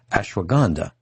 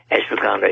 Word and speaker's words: ashwagandha: root powder called an f i hope i'm pronouncing this right ashwagandha a s h w a g a n d h a ashwagandha root powder now can you tell our